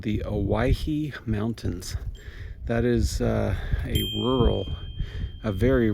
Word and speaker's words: Owyhee: Everybody misspells it, everybody mispronounces it. It's called the Owyhee Mountains.